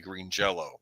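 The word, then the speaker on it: Green Jellÿ: by the band I I know it's spelled green jelly but I think it's their their name is actually Green Jello which was kind of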